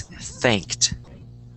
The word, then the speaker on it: thanked: he pronounced correctly um thanked though that one's kind of difficult because you have the th and then thanked so that one's difficult and um you know sometimes people forget to pronounce the Ed because they're speaking really fast uh so it's thanked thanked there you go thanked perfect you want to get that Ed in there in there otherwise it's